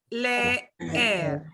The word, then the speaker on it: leer: It's still leer. Leer. I drag the out, which normally I wouldn't drag it out.